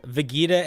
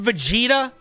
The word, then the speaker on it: Vegeta: by a band called Sleepaway Camp um vegita AI singing is great all right calm down uh it's actually it's pronounced Vegeta shut up um trapped inside this weapon is